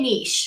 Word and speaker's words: niche: to say it folks i'd like to say a niche what's your niche um because you can say well the riches are in the niches i know and then it rhymes that also right niche just sounds you know um is